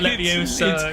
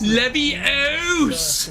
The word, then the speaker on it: Leviosa: It's not Leviosa. It's Leviosa.